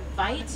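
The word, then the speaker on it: wyd: The name white is a mispronunciation of an Afrikaans word. Vite, it means wide.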